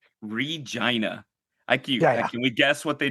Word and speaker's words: Regina: towers, and it said Regina, the city that rhymes with fun.